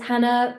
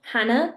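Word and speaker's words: Jana: And yes, even though you can see that it's spelled J A N A, that's not a typo. That's not a mistake. I'm Spanish English and like many of you guys know, Jalapino is spelled with a J like Juan is. And so is Hannah in my parents' world apparently. Anyway, I am the founder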